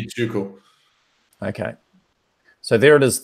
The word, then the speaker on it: Tycho: Tycho. Tycho? Tuco. Tycho, Tuco. That's one way. I mean, the correct pronunciation would be Tuco.